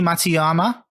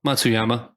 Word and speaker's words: Matsuyama: Hideki Matsuyama. I said it right. It's close. Yeah, close. Matsuyama.